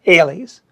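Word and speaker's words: -ales: of time on them they end in the standardized ending a-l-e-s which we're going to pronounce alies lily ailees magnolias zinger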